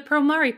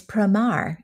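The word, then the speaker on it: Promare: to process with the promari panel you also went there right yes and big surprise it's primar I did not realize that I didn't I never knew how to pronounce that but that was fun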